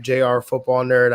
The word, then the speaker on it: jrfootballnerd: my twitter handle at jrfootballnerd i know it looks it looks like it's pronounced junior but it's jr so i've been on